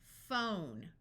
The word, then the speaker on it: phone: five important site words pH has the sound of f f f here's a name R Alf Ralph notice the silent E which we covered in level two lesson five F own phone g a graph F